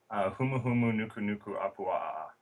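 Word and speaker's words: humuhumunukunukuāpuaʻa: Humu-humu nuku nuku apua'a.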